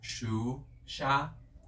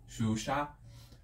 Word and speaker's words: Xuxa: And you already know that I'm talking about Xuxa. That's how we say her name in Brazil. I know it's kind of difficult to pronounce it, but it's like Xuxa, Xuxa.